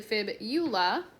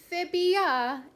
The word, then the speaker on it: fibula: tibia and the fibula most people like to pronounce these and like kind of combine the words of saying tibia and fibia but it's actually fib eula so if you put fibia it will be wrong it is fibula so